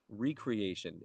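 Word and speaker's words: re-creation: that is Recreation Recreation Recreation elaborate on that what's that well it's the word recreation with the accent on the other salal yeah so it's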